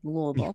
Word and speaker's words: Louisville: Notice I said Louisville. That's right. You pronounced it correctly.